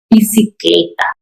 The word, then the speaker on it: bicicleta: This letter often sounds like the English V. This is pronounced with the lips not touching. Bicicleta, bicicleta, bicycle.